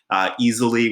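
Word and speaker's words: easel.ly: could use a program like easily which is a free poster creation program it's spelled e a s e l dot l y um or you could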